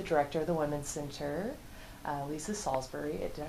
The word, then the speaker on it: Lysa Salsbury: So for it, I'm interviewing the director of the Women's Center, Lysa Salsbury. Did I pronounce that right?